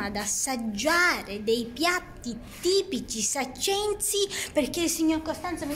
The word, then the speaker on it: saccensi: Ora di pranzo, e quindi adesso andiamo ad assaggiare dei piatti tipici saccensi, perché il signor Costanzo mi dice che non si dice sciacchensi, no. Ma si dice com'era? Saccensi.